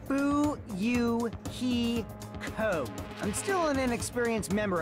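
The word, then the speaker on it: Fuyuhiko: name is my first name is pronounced boo Yoo hee ho I'm still an inexperienced member of my family's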